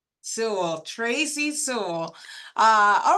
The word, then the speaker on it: Sewell: We have joining us from the RSP team, Tracy Sewall. Is that how you pronounce it, or is it Sewell? Thank you for asking, Farah. It's Sewell. Sewell, Tracy Sewell.